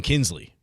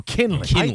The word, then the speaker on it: Kinley: Not my last name, Kinsley. No, Kinley.